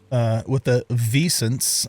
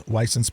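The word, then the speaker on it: Wisent: I guess I was calling the bisons Weissens, but I guess you pronounce it Vicent because it's apparently it's a German name from what I found out. So Vicents. I guess we just got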